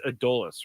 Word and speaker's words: Adolis: of the ninth adus I pronounce this guy's name wrong all the time it's adus right yes adus Garcia at the plate